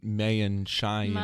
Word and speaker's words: Maienschein: left the Republican Party you forgot a couple syllables there what it's Maienschein there's a few more vowels that's why we say